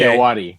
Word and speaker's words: Ayoade: Richard Ayoade is in it. Is that how you say his name? Yeah. Okay. Ayoade.